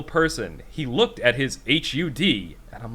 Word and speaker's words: HUD: And how would you pronounce that as an acronym? HUD.